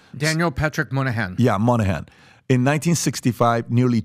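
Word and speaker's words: Moynihan: do you say his last name Daniel Patrick Monahan yeah Monahan in 1965 nearly 25% of black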